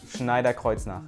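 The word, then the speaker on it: Schneider Kreuznach: 18 megapixel camera from Schneider Kar on the back side and a 2 megapixel front-facing camera yes I said it right Schneider Kar it's German the 18 megapixel camera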